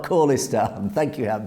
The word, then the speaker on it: Khalistan: Hat B says, oh yeah, khalistan, we're saying it correctly. It's not khalistan. God knows where they got that from. I think the general consensus said, James, it is khalistan, not khalistan.